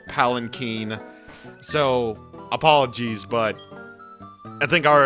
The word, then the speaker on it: Palanquin: It's pronounced Palanquin, not Palakine.